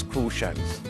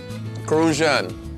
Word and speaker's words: Crucian: Those of us who are born and live in St. Croix are referred to as Crucians. Crucian. You gotta say it like that, Crucian.